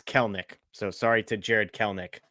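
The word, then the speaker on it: Kelenic: And apologies, it's Kelnik. So, sorry to Jared Kelnik. I never pronounce his name wrong.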